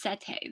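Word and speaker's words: setae: it said polycetae um because those bristles are are pronounced sete the little bristles that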